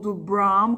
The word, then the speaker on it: Bram: m ou n né também em inglês o m Ele é bem articulado então é brahm E aí a minha